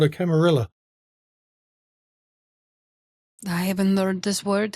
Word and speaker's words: camarilla: It's pronounced camarilla, but yes.